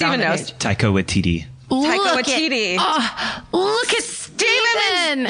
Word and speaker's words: Waititi: And is it Watiki? I don't know how to pronounce that guy's name. I panic when I see it Steven on the knows. page. Taika Waititi.